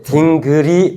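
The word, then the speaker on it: dingir: 이것을 발음할 때 딩그리 발음해.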